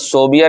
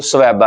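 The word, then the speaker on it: ثویبہ: لہب کی کنیز سویبہ، یہ لفظ صوبیہ نہیں ہوتا، اب اصل تلفظ جو ہے وہ سویبہ ہے، صوبیہ نہیں، ان کا جو ہے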